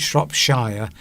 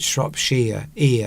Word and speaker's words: Shropshire: You don't pronounce it Shropshire, you pronounce it Shropshire, sheer at the end, not shire.